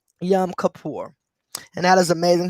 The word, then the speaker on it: Yom Kippur: go and look it up for the proper pronunciation but it's y o m k i p p u r yum kapoor and that is amazing how the shooting took